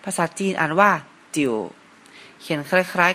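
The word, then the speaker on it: 九: นะ ครับ เลข 9 ภาษา จีน อ่าน ว่า จิ๋ว เขียน คล้าย ๆ กับ เลข 8 นะ ครับ เริ่ม จาก ทาง ซ้าย แล้ว ต่อ ด้วย ขีด ทาง ด้าน ขวา ครับ ภาษา จีน อ่าน ว่า จิ๋ว แปล ว่า เลข 9 ครับ เลข สุด ท้าย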